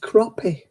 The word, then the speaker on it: crappie: they wouldn't be living oh it's pronounced crappie i still don't think